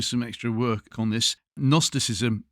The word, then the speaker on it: Gnosticism: Can I just say if those want to do some extra work on this, Gnosticism is with a silent G at the beginning. It is not an N.